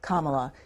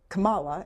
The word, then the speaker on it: Kamala: Congressman, the vice president pronounces her first name, Kamala. You mispronounce it. Do you do that on purpose? No, ma'am. I don't know how she pronounces it. This is the first time anybody's ever told me that. How did I say it? You said Kamala, and it's Kamala.